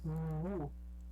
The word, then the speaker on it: wu: Wu. Você não faz o I. Você faz só como se fosse um U mais fechado. Wu.